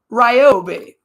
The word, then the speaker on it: Ryobi: __ ] you Grandma you know Ryobi is how you say that it's a it's a